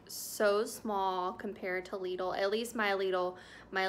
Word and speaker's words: Lidl: you did on lidl lidl it's pronounced legal not lytle it rhymes with needle and that's on their